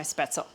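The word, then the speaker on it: Spätzle: now I'm going to start my spettel spet is the correct pronunciation and my water is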